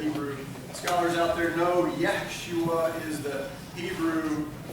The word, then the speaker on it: Yeshua: If all of you Hebrew scholars, good Hebrew scholars out there know, Yeshua is the Hebrew pronunciation, I guess, if you will, of our English translation, Joshua.